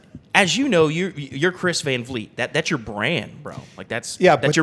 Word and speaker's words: Van Vliet: Thank you for pronouncing it correctly. Van Vliet.